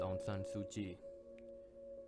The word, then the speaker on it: Aung San Suu Kyi: got it not a problem her name is Onan sui she was born on June 19 1945 her